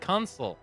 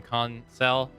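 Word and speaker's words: Kunsel: They said, "Hey, I'm gonna go get Consul," or I think that's how you pronounce his name, Consel.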